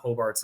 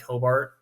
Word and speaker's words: Hobart: t-h-e-e and then Hobart um that's h-o-b-a-r-t a lot of people try to put an e in there for whatever reason it's phonetically pronounced exactly how it's spelled um you can find